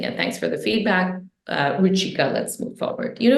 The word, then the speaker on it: Ruchika: Thank you for pronouncing it. Thanks for the feedback. Ruchika, let's move forward.